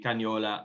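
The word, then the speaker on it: Canaiolo: With Sangiovese, Cagnola, and Colorino, maybe. Exactly. That's the correct perfect pronunciation.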